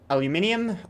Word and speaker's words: aluminium: Heavily utilizes aluminium, argon... No, I'm not pronouncing it aluminum, by the way.